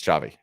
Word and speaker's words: Xavi: My point is, I think there was the conversations have already started, especially because I still think it's Xavi, which I'm now pronouncing right.